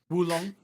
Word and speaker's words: Wulong: Wulong. Oolong? Long Oolong. Dynasty. Oolong, Oolong. like the tea. Okay, I'm gonna try. I would try. I Oolong tea. Not Oolong. Wulong. Oolong.